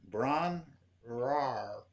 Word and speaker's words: Bron-Yr-Aur: I believe it's Bron-Yr-Aur. Wait. So it's Bron-Y-Aur. See, I'm trying to roll the R. It's 2 syllables. Bron-Yr-Aur.